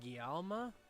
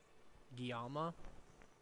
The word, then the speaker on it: Guillaume: say his name is guillaume i think the ls are are pronounced as a y guyama or your wound feeling